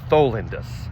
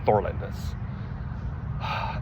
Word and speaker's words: Tholindus: It's Tholindus, not Thorlandis.